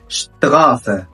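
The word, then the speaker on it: Straße: الاس تي والاس بي الاسي عندنا بتنطق شت ش ثم اشبيل اشتغاس اشتغاس يعني شارع بوض شاتسيون يعني محطه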